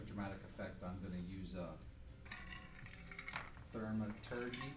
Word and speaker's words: thaumaturgy: Just for dramatic effect, I'm gonna use thaumaturgy.